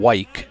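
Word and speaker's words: Wike: knocked the camera just so I pronounce it correctly you have Graham white w i k e at the plate hitting and pitching Garrison white wi ght white versus white two out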